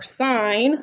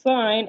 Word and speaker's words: sine: to talk about are sine i'm going to write um how they're spelled so you can see it so it's sine s-i-n-e that's why it's not pronounced sin is because that's actually